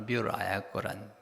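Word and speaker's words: 三浦綾子: 우리 이제 그분의 그 한문을 따라 한국 사람들은 삼포능자라고 읽기도 하는데, 일본 말로 미우라 아야코란 거죠.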